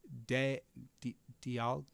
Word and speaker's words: Dialga: Dialga, it's pronounced Dialga.